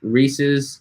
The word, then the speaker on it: Reese's: you so much for saying it correctly as Reese's as belonging to Reese not as some weirdo says it Reese yeah I don't know who says Reese's I don't say Reese Reese's for sure Reese's Pieces Reese's that's